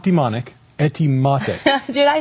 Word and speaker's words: Etymotic: I dare you to pronounce the name of the company. I know, it's hard. It's... Etymotic.